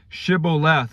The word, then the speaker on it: shibboleth: pronounce the word and if they mispronounced it by an s rather than a sh sound then it it would